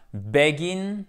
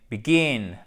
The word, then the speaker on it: begin: fait avec to begin attention c'est pas begins et pas begin mais pikine et c'est pas intuitif pour nous francophones ont un accent tonique sur la seconde syllabes donc comment prononcer ce